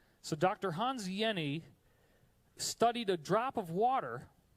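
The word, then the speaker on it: Hans Jenny: the study by Dr Hans Yenni that's how you pronounce that name even though it looks like Jenny the J is silent it's like a y so Dr Hans Yenni studied a drop of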